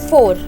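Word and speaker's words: vor: V is always pronounced as F, that's why it's 4.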